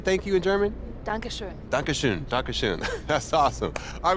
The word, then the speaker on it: Dankeschön: Dankeschön.